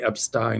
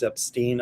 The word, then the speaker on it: Epstein: I say Epstein, I know people say it's Epstein. I pronounce it the German way Epstein, whatever.